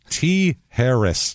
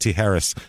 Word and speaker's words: Tijeras: Tijeras, New Mexico is how it's pronounced. Tijeras, New Mexico. Tijeras.